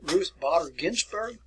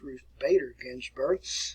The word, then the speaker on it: Ruth Bader Ginsburg: by the way then ruth botter ginsburg bruce are actually i think it's pronounced ruth bader ginsburg who just recently passed